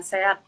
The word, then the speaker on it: SEAD: Dan aku juga tergabung dalam komunitas Sehat Jambi, Mbak. Itu kepanjangan dari Sobat Eksplorasi Anak Dalam Jambi. Gitu. Oh gitu, oke Mbak Coci dari Sehat Jambi. Jadi bacanya sehat ya, Ya, tadinya aku kira sih.